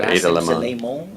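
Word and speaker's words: Ada Limón: So Ada Limon.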